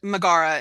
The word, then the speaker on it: Megara: Megara? Yeah, I mean, there are a couple ways to say it, but Megara is, yeah.